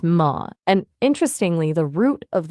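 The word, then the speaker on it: ماء: Arabic is Ma, pronounced Ma.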